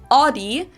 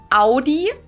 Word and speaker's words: Audi: Most Americans that I know pronounce it like I just said it. Audi. In German, we say Audi.